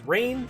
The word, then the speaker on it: Reginn: five mythic which is rain i think that's how her name is pronounced who is a very